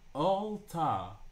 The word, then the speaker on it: AllttA: So how do you say his name? Is this all or AI? No, it's AllttA.